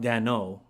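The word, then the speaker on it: Daigneault: Mark they not I'm pretty sure it's pronounced and I speak French Mark Dano but yeah way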